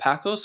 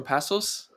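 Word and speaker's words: Paços Ferreira: He's played like with Was it, how do you pronounce that? Pacos or Pasos? Pasos Ferreira. Yeah, Pasos Ferreira.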